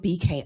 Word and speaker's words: bkr: I love the beaker bottle, BK. I think it's pronounced. In my head, all these years I've been calling it beaker. I met someone and she had a beaker bottle with her. She called it BKR.